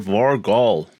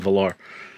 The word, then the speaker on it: Var-Gall: So Skull Lord Var-Gall. That's how you pronounce his name, not Valar.